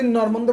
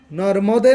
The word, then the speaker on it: নর্মদে: তো তুমি নর্মন্দে বলছো কেন? নর্মন্দে কেন বলছো? নর্মন্দে বলা যাবে, দন্ত নয়তো আছে। এইখানে যুক্ত বর্ণটা কি কি বলো তো? ন, ময় ম। ময়মনা। তাইলে সংস্কৃত, এই সংস্কৃতের উচ্চারণ অনুযায়ী প্রত্যেকটা যুক্ত বর্ণকে পূর্ণ শব্দে উচ্চারণ করতে হবে। তাহলে ময়ম থাকলে কি উচ্চারণ করতে হবে? নর্মদে না? কি কি?